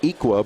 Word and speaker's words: Iqua: and then adding the solar utility terrific it's pronounced equa but it's spelled I qu UA and it